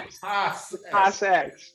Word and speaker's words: Zekas X: And as we jump into Focus Minds, we are introduced to, I should say, Zekas X. Am I pronouncing that right? Because Zekas, like Picasso. Zekas X. Picasso, Zekas, Zekas X.